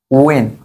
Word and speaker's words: when: কারণ ডব্লিউএইচ এর পর এইচ বাদ, পাশাপাশি ডব্লিউএইচ থাকলে এইচ এর উচ্চারণ হয় না, এইচ বাদ, ডব্লিউএইচ, এইচ বাদ, ডব্লিউএইচ, এইচ বাদ, ডব্লিউএইচ, এইচ বাদ, এটা কি হবে? হয়েন, ওয়েন, ও ওন বা ওয়েন, ঠিক আছে?